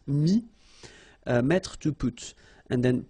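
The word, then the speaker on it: mis: Mi, same advice here, don't pronounce the final S like we had here. T is not pronounced, S is not pronounced. Mi, mettre, to put, and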